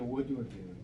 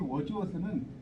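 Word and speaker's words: Wordsworth: 하나만 네, 낭만주의가 로맨티시즘인데 그래서 이제 영국의 낭만주의를 대표하는 사람이 당연히 이제 워즈워스예요. 보통 이제 워즈워스라고도 하고 이게 정확하게 영어로 쓸 때는 th 발음이기 때문에 이게 우리가 재밌는 게 이 맥베스잖아요.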